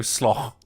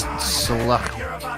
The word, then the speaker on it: slough: Because I think I look at slough, and I knew at least one of you was going to go slough. This is like cough. It's spelled the same way as cough. Yeah, it's sluch. Sluch.